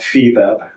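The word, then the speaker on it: FIBEP: global organization of all media intelligence Services called Feb that's spelled fi b as in boy e p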